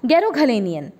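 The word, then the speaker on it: Garoghlanian: ये है वो ट्राइब का नाम, और इसकी प्रोनाउंसिएशन रहेगी बच्चों गैरोघलेनियन।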